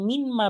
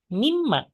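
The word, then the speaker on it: مِمَّا: kan dari apa nah ini ketika digabungkan itu bukan min ma bacanya tapi jadi minim ma nah dipendekin Ya, mimma.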